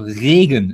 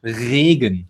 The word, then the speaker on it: Regen: It's soft, he says. It's not Regen, it's Regen. Regen. Yeah, you don't have to roll it that hard. And I made a video about how to pronounce the German R. Look it up on my YouTube channel. Exactly. Try to purr like a cat. You know? Regen. It comes from the throat.